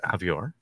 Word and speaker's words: Avior: special guest today avior hey thank you thank you thank you rhymes with behavior right bad behavior naughty